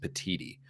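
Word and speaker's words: Petitti: By the way, I believe the new Big Ten commissioner's name is pronounced Petiti.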